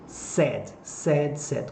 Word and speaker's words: said: O passado do verbo say, dizer, olha atenção para a pronúncia, sad. Como se eu estivesse dizendo triste, ok?